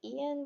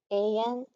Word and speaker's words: Ayan: Is it Ian? What do you mean? It's pronounced just like the letters A, E, and N. Ayan.